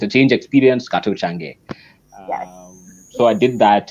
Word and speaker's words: Kato Change: So my name, the pronunciation of my name is Kato Change, but it Okay.